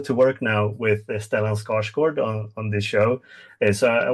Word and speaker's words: Skarsgård: I wish I could pronounce his last name the way Like you just did. I know. I've been calling him Skarsgård. Skarsgård. Wrong. I just realized how wrong I've been saying it.